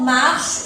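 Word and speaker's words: marchent: Il, elle, on marche, E. Nous marchons, ONS. Vous marchez, EZ. Il, elle, avec S, marche, ENT. ENT avec les verbes se prononce E.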